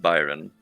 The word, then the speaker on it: Byron: if that makes sense it's pronounced Byron Byron can you hear me